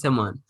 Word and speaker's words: Timon: Yeah, I literally just pronounced it for you, and you putting all these emphasis on the M's and the O's.